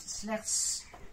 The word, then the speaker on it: slechts: 只有荷兰只有一座山，Nederland heeft slechts een berg，所以你发音的时候呢，这个 S 你要很清楚的读出来的。Nederland heeft slechts een berg。Een berg。Nederland